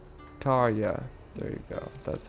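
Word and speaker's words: Tarja: Now, where's Tarya? Tarya.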